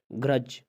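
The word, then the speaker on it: grudge: अगर किसी लफ्ज़ में जी से पहले डी का लफ्ज़ हो तो डी हमेशा साइलेंट होता है। जी से पहले डी का हो, जैसे आप कहते हैं बजट, अच्छा, ग्रज, बैर दुश्मनी कहते हैं ग्रज।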